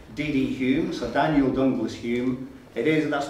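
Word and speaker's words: Home: Humes or Daniel Douglas Hume it is that's not a typo it is spelled h-o-m-e but the affectation is so they always pronounce that as Hume it was a Scottish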